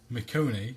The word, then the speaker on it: Michonne: If somebody could post on Facebook or tweet or something and tell us how we should be pronouncing that. Right. I've been, for the longest time, been calling Michonne from The Walking Dead, Michonne.